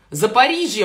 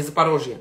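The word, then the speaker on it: Запоріжжя: остались мы там ей за париже мне сказали что так правильно говорить за по регионе запорожье запорожье это на русский лад да она украинские за париже о ком речь на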